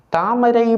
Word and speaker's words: தாமரை: தாமரை என்பதை சிலர் சரியாக எழுதுவார்கள், ஆனால் சொல்லும்போது அந்த ரா என்பதை சரியாக உச்சரிப்பதில்லை, அதை ரா என்று சொல்வார்கள். தாமரை என்று சொல்வார்கள் உண்டு. தாமரை மலர், ரை, ரா, ரகரம், தாமரை மலர்.